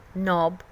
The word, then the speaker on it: knob: उसके कुछ एग्जांपल्स हैं knob, no, and knife. These are letters that you can see but don't say. These are silent letters.